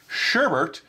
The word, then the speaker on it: sherbert: or fruit juices sherbert with an additional r in the second syllable and pronounced sherbert is the less commonly